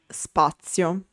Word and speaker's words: spazio: When Z is unvoiced, it's called Z sorda. For example, spazio.